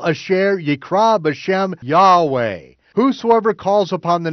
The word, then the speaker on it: Yahweh: didn't even know it I pronounce the name Yahweh joseph has stated that there were four vowels on the high priest urban you'd hey Val hey are pronounced as vowels in one breath Yahweh fluently Yahweh in Greek literature